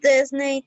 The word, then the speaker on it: Disney: Disney is the pronunciation. It's not Disney. It's Disney. Disney. Disneyland. Okay, Disney. Disney, yeah. Like Sydney, Australia. Sydney, no Sydney. Sydney, Spanish. Disney, Spanish. In English, you say Disney, Sydney.